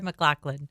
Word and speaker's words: McLachlan: Sarah McLachlan. There it is. That's correct.